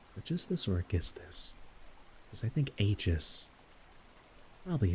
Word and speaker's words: Aegisthus: foreland where Thyestes used to dwell, but where Aegisthus was then living.